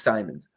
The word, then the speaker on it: Simons: Anthony Simons, Simmons, Simons, I forget how you say it. Uh he's an interesting spot. I went back and I watched some film and uh it's Simons.